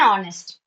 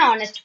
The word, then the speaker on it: honest: Yes, it is an honest. An honest person. She is an honest girl. He is an honest man. So an should be used before the word honest because in honest H is silent.